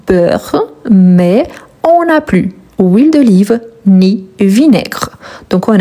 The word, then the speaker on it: huile: Donc, huile d'olive commence par un H, mais c'est un H muet.